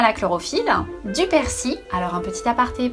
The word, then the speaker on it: persil: Des chewing-gums à la chlorophylle, du persil. Alors un petit aparté pour les gens qui prononcent le L de persil, vous méritez de mourir